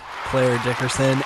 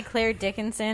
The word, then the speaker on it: Clare Dickerson: Wow, you pronounced both of our names right. It's a pleasure to be here. Well done. You've done your homework. Jeez. People say Clare Dickinson and Cheya Cary. Cheya.